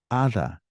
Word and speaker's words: hada: Hada. Hada's with an H, but it sounds the same.